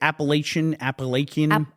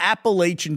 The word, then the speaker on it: Appalachian: Appalachian.